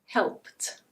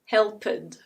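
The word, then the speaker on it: helped: This becomes /helpt/. It's not /helpɪd/ or /helpɪt/. It's /helpt/.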